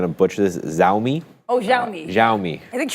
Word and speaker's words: Xiaomi: I'm probably going to butcher this zi oh xiaomi xiaomi I think sh pronounces it pretty well yeah I think I think it's xiaomi xiaomi this is the uh Apple of China